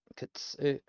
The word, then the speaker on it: 靴: Which is why we get the くつ靴 kutsu. It almost ignores the u.